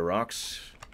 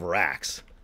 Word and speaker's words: Rax: And we're going to push you to the front here, Rox. Except he calls himself Rax. I just got to say, I love how I keep calling him Rox, and he keeps calling himself Rax.